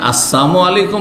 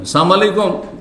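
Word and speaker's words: السلام عليكم: হয়ে গেল বুঝছেন না সাবধান লাম যদি ওখানে সাইলেন্ট করে দেন তাহলে ওর মানে মরণ হয়ে যাবে সালামের লামকে সাইলেন্ট করা বুঝেন তো হ্যা উচ্চারণ করলেন না আপনি তাহলে ওর মানে মরণ হয়ে গেল এজন্য আপনি আসসালামু আলাইকুম বলেন আর আসসালামু আলাইকুম বলেন সাম আলাইকুম মানে মরণ সামুন আলাইকুম সাম মানে মত এজন্য শুদ্ধ উচ্চারণ করে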